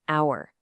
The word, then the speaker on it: hour: Look at an hour. The letter H is silent, right?